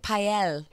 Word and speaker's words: Pyle: Well, I would have gone more Frenchy, like Pael. Well, yeah, that's how it's actually supposed to be pronounced, but when you get here, people go Pyle.